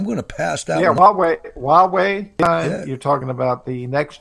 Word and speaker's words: Huawei: Huawei, H-A-U-W-E-I, and that's not the way it's spelled. That's just the way some American decided to say it.